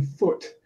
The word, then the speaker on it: foot: look at this one they vowel sound in foot you can't go ooh because it becomes the vowel sound in boot so if you got to do this one you're gonna have to make it short so I would normally